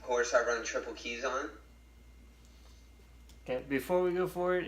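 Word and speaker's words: Kizan: before we go forward it's not keys on it is Kaizen I understand the most pronunciation nothing wrong with that you know we all pronounce things differently but it is guys in for for those of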